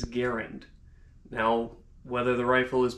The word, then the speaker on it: Garand: it simply as this the rifle is traditionally pronounced garand whereas the designer is guarant now whether the rifle